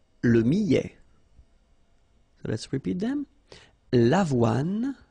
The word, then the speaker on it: millet: Le millet, here, I, and then double L, so I, millet. ET at the end, open, millet. L'orge, le quinoa, le son.